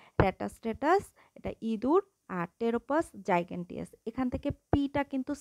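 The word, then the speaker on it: Pteropus: এটা হচ্ছে কাঠবিড়ালি ট্যাটাস স্ট্যাটাস এটা ইদুর আর টেরোপাস জাইগ্যেন্টিয়াস এখান থেকে পিটা কিন্তু সাইলেন্ট থাকে টি থেকে উচ্চারণ হয় এজন্য এইটা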